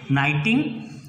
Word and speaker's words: knitting: The pronunciation is नाइटिंग.